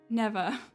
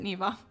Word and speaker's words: Neva: Oh, never. Neva. We're gonna pronounce it Neva.